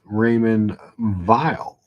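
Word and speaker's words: Raymond Weil: the layout Simon well d d says it's pronounced Raymond vile now there you go that's how little people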